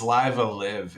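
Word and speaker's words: Live A Live: I think it's Live Alive. It doesn't rhyme with Five Alive.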